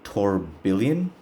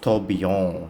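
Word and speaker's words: Tourbillon: it's called the Bugatti torban I'm pretty sure it's pronounced toon you know kind of like in the French Italian way that they do it wa bugat is Italian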